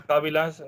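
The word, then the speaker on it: cabilas: que son los cambios la pronunciación es kábilas también lo hizo como kábila en las kábilas son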